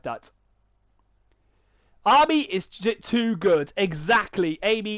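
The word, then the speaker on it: Ami: that they're kind of like say army or amy but i there is more amy but i think it sounds like army because of the you know the the how the name is how it's spelled right army baby you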